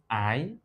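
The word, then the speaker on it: aye: other word in English that is pronounced I well it may be difficult but it is a ye it's no longer used in contemporary English it has been relegated to literature I it means yes this is not a it is not the euroba word a it is the English word I and all of them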